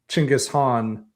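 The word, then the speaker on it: Genghis Khan: the Mongols but as opposed to like uh Chingis Han or Jenghis Khan as I pronounce it in the thing.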